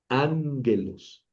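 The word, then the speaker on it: ἄγγελος: Ya ven que tiene el espíritu suave. Ese espíritu suave no suena. Y la otra rayita que tiene ahí, pues es el acento. Entonces voy a pronunciar ánguelos. Ángelos. Ánguelos. No, anguelos. Ahí no dice anguelos. Tampoco dice anguelos. Dice ánguelos.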